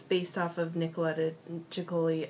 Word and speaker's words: Ceccoli: based off of nicoleta choli I think that's how you say it some people say it's sioli I think it's choli um but it's based